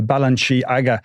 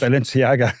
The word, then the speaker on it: Balenciaga: know cuz I asked Denise Smith how to pronounce the next one, which is the the Balanchi Aaga ladies train. Balenciaga.